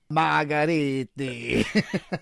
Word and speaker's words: Margheriti: Margheriti.